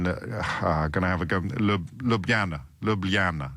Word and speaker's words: Ljubljana: Ljubljana. It's that middle L that's tricky, Cyril, isn't it? Because I could do Ljubljana, but it's Ljubljana.